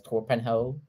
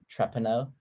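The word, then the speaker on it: Torpenhow: By the way, that the hill I read as Torpenhoe, it's actually pronounced Treppenau Hill.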